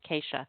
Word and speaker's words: Kasha: It's spelled like Kasha. Okay, so Kasha, but it's pronounced Keisha.